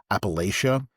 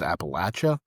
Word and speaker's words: Appalachia: Um, so there's a northern pronunciation and a southern pronunciation. The northern pronunciation is usually uh more of Appalachia and the southern pronunciation is Appalachia.